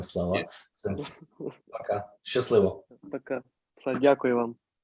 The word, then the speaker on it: Дякую: Дякую. Say again. Дякую. Дякую. Yes? Дякую. Дякую. Take care, guys. Слава Україні! Героям слава. Все. Пока. Щасливо. Пока. Дякую вам.